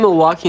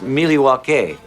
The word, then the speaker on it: Milwaukee: Milwaukee.